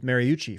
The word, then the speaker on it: Mariucci: Speaking of Chattahoochee, rhymes with Mariucci, former coach of the 49ers in San Francisco, Steve Mariucci.